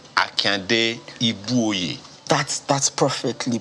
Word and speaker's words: Ibuoye: original name Akande Ibuoye. That's perfectly pronounced. Ibuoye.